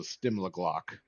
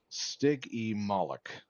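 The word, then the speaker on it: Stygimoloch: I called it a Stimliglock. It was a Stickmaglock. Okay, well. Looks like we even have a phonetic or pronunciation. Stig-e Moloch.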